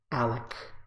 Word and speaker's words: Alec: Alec. Like Alex with a K. Alex is like without the X.